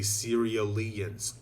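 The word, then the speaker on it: Cerealians: out something else about his race these uh serialians which by the way i saw one of the comments in my earlier videos it turns out that is how it's pronounced it's the serialians that's how you pronounce the the the word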